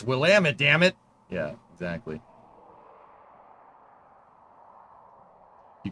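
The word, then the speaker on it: Willamette: Uh the Willamit Valley. And I'm Yes, I learned how to say that right. My uh my cousin married somebody from Portland, Will Ammit.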